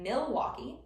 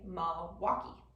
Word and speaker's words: Milwaukee: that word is that you didn't pronounce that L in the first syllable. So rather than saying Milwaukee, as it's written, as it spells, us Wisconsinites typically say Milwaukee.